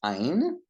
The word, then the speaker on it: Ayin: The next letter is ein. Ein. It's like A-Y in English, or A-H, Ein.